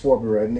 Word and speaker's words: vorbereiten: It's vorbereiten, exactly, that's how you say it.